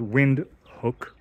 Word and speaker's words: Windhoek: so we are in vinhook spelled wind hook or h-o-e-k wind um but pronounced windhook which is the capital and largest